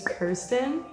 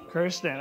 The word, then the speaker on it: Kirsten: make a clarification yeah very common misconception my name is Kirsten Kirsten okay but I pronounce